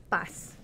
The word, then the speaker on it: Paz: And he says bus. Bus. That's what I speak a little bit of Spanish. Like speak like driving a bus.